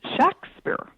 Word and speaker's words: Shakespeare: Actually, the name was pronounced, if you look in the documents of the period, the name was pronounced Shakespeare with a short A.